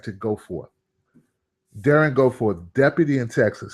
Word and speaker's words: Goforth: Goforth. Darren Goforth, not Gold, Goforth. Like to go forth.